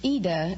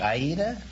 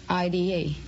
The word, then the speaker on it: Ida: Well, it's Ida in Italian, but... Oh, it's like Aida? Well, no, there is no A. It's just Ida, I-D-A. Oh. But the Americans pronounce it Ida.